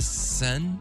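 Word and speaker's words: Seine: The Tem and the Sen?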